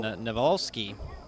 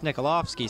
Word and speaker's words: Nikolovsky: like uh number 32 john navalski well that's nikolovsky sorry believe is how you say that name on the tackle brings